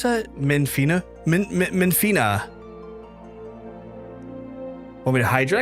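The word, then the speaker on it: Menphina: Uh, how do you pronounce that? Menfina.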